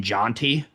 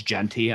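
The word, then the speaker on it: Jeanty: Um, I tried to lowball the out of Sage for uh Devonte Adams for um uh Ashton Janti. It's Genty. I know how to pronounce his name.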